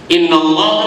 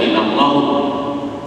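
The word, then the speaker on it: إنَّ اللهَ: Innallaha ma'as sabirin. Inna sesungguhnya harfu taukid. Kalau setelah lafaz inna maka kalimat sesudahnya harus dibaca nasab fathah. Bacanya innallaha, nggak boleh baca innallahu.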